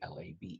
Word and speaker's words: לֵב: LABE, as you see, LABE as the pronunciation, is the heart.